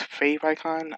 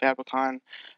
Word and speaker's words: favicon: so also fabric on it stands for favorites icon so it might actually be pronounced fave icon i just naturally call it fabicon uh that's just me